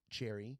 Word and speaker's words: Cherie: Cherie. Some in some areas, they might pronounce that as Cherry. It sounds like cherry.